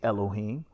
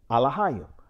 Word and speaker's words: Elohim: But contrary to that, our Alahayim, which many will say Elohim, but the paleo pronunciation of God is Alahayim.